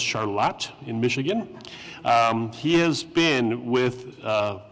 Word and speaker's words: Charlotte: Ben is from Charlotte, which when I first came here, it looked like Charlotte to me, but it's pronounced Charlotte in Michigan.